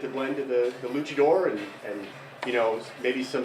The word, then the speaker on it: luchador: and they were calling it lucidor which sounded you know like like the devil yeah that's the last thing I would want you to say but you know everyone's got their own way of pronouncing things but I assume everybody knows what a Luchador is and apparently that's not